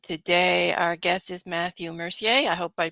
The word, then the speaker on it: Mercier: my name is Matthew Mercier Mercier is the indigenous way to say it you can say either